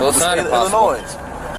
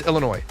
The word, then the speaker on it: Illinois: It's Illinois. The S is silent.